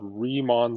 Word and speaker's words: Riemann: four using something these rectangle sums are called Riemann sums okay so that's how you pronounce that were their Riemann sums it's named